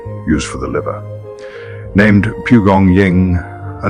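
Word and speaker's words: 蒲公英: Named Pugong Ying, a name still used today in traditional Chinese medicine. Pugong Ying, worth saying slowly. 3 syllables carrying thousands of years of accumulated knowledge.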